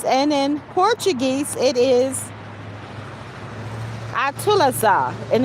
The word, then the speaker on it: atualizar: And in Portuguese, it is Atulazar, and it's spelled ATUALIZAR.